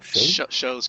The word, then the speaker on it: Shou: You said it was Shou? Show's good. Yeah. Show.